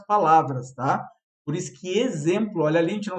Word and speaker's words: exemplo: Por isso que exemplo, olha ali, a gente não se dá conta. Exemplo tem som de Z, mas é escrito com X, tá?